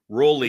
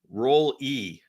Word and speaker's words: Roll-E: Rowley. What? Roll-E. It's not Rowley. Roll-E. Rowley. Okay. I keep saying it wrong. Rowley. Okay. Roll-E is how you say that last name.